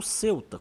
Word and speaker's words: Ceuta: Para entender essa história, primeiro precisamos localizar Celta no mapa ou CTA, como alguns espanhóis costumam pronunciar.